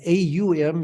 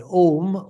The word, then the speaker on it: Om: But Om, O in Sanskrit, is a diphthong. It's a combination of the sounds A plus U.